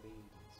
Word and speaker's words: Le: Was that the correct pronunciation? Lee, yeah.